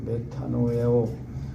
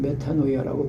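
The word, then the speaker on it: μετάνοια: 회개는요, 원어로 이제 메타노에오, 메타노이아, 여러 가지 이렇게 이제 어근에 따라서 발음하는데, 하여튼 메타노이아라고 보통 말합니다.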